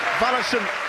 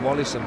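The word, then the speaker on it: Wallyson: João Mario will leave the field, and the Brazilian Vallison will come on. Very talented young player. That's the change in Sporting Lisbon. Good job you can pronounce Brazilian, because I'd have called him Wallison.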